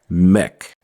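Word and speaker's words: mek: we pronounce take Tech we pronounce make Mech but Mech is a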